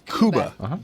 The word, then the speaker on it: Cuba: yeah I pronounced that correctly its kuba okay he entered no